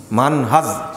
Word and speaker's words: মানহাজ: মানহাজ শেষে হলো কি? বর্গীয় জ।